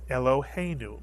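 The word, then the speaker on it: אֱלֹהֵינוּ: the lamid and the first syllable is Elo mitu Elo second syllable he is correct the plus the yud under the he he is correct third syllable new mitsu and you put the word together you get elohenu mitsu Yan elohenu which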